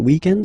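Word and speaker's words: week-end: we're talking about the weekend okay but then pronounce it the French way weekend the weekend okay but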